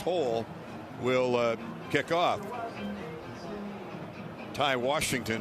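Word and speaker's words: Houl: H O U L. HHL pronounced hole will kick off.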